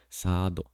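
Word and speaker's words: サード: Then there's this, and then the third base is pronounced as sado, which is third base, sado.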